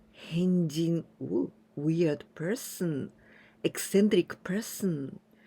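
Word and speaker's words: 変人: Adding this kanji, this is person, hito. But here we pronounce with jin. Henjin. Henjin.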